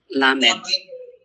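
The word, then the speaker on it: ל: Lamed. That is your L sound. That is the lamed.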